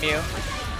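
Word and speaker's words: Mu: She's not actually called Moo here. She's called Mew. For those who really don't like that. I'm calling her, yeah. It's Japanese pronunciation, right?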